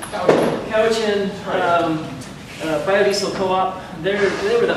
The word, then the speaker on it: Cowichan: I always pronounce this wrong. Is it Cowichan? Cowichan.